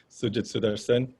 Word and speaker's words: Sujith Sutharsan: guess technically my pronunciation my name is sujit i've got used to all kinds of pronunciations but i'm trying to correct everyone as we go along so it's sujitsudarsen um i'm now almost